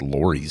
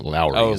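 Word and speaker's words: Lawry's: I mispronounced it. I think I said Lori's seasoning. It's Lowry's.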